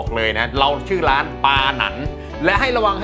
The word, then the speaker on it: ปาหนัน: อ่า LINE ID LINE @ปาหนัน 888 นะ ครับ อ่าน ว่า ปาหนัน นะ ฮะ ปาหนัน ๆ นะ ครับ นะ